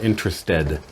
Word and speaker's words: interested: But other times when you have ed, you will have a separate sound. For example, interested. That would be an example where you don't say it as one sound. You have to add a syllable.